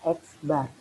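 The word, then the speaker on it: x̄: Ini bacanya X bar.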